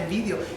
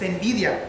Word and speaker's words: envidia: Siempre digo ese nombre, esa palabra mal, lo dije. Carmen siempre me dice, lo estás pronunciando mal. No es antes decía envidio, es envidia, pero hoy lo estoy pronunciando bien.